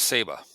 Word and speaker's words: Saba: so the next Island I went to was saba and it's although it's spelled sa it's pronounced Saba okay uh it's